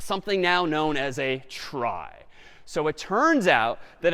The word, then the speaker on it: trie: a fancier tree and it's short for retrieval but pronounced try for weird historical reasons but a TR is